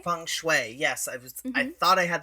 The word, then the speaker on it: feng shui: For example, with I think it's feng shui. Feng shui. Yes, I thought I had the pronunciation. No, you're okay. Feng shui.